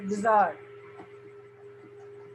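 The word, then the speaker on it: bizarre: कैसा था बिजार था एक और वर्ड आपको दे रहे थे बजार इसको प्रोनाउंस करने के लिए इसको हिंदी में आप लिख लीजिएगा बार या आप उर्दू लिखते तो उर्दू में लिखि बिजार कैसे लिख लेन इंग्लिश में जैसा लिखा जाता है वैसे पढ़ेंगे नहीं जसे अगर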